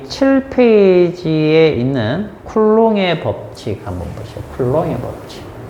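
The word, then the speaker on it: Coulomb: 자, 사람 이름은 쿨롱입니다. 이 사람 이름 딴 단위는 요거 전하량 단위인데 C는 쿨롬이라고 읽고요. 알겠죠? 사람은 쿨롱. 자, 사람 이름은 자기 나라 말로 불러줍니다. 자기 나라. 그죠? 그 다음에 단위는 영어로 해줍니다. 알겠죠? 그래서, 자, 이름은 쿨롱이고, 단위는 쿨롬 단위로 이 사람 이름 써요.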